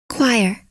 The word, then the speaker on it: choir: here let's try another one which is often mispronounced is it troyer joyer let's find out choir choir choir choir choir